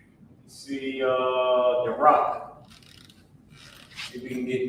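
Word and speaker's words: Barak: All right, the rock. That's how you pronounce it.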